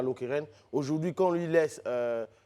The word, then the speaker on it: Lokeren: Eh bien, il a été nommé donc entraîneur des gardiens de but du club belge de Lokeren, c'est comme ça qu'on prononce.